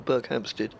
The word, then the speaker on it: Berkhamsted: No, I think the emphasis is on the second syllable, Berkhamsted.